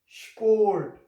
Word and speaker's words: Sport: It's the same spelling which we use in the English language, but here S P will be pronounced like sport. So the sound of S will be sport.